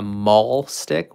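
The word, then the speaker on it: mahlstick: can be used as what we call a maul stick which is spelled m-a-h-l and it's essentially just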